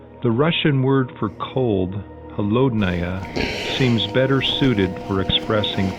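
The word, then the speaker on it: холодная: The Russian word for cold, holodnaya, seems better suited for expressing 50 below, especially if you stress the first syllable and shiver when saying the rest.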